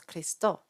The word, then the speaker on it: Christum: speech for an O so they probably would pronounce it as kisto and they wouldn't actually they wouldn't actually be pronouncing the U they might have pronounced it as a um as a nasalized vowel they might have pronounced it as chist it's a bit hard